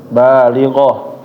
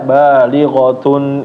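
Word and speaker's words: بالغة: Tadi misalnya ketika membaca balighoh, kalau stop di situ nggak mau lanjut ya, misalnya berhenti di situ, berarti dibacanya menjadi balighoh. Nah, habis itu dilanjut ila yaumil qiyamah. Kalau misalnya mau lanjut dari balighoh lagi ya, dari balighohnya, maka dibaca balighatun ila yaumil qiyamah.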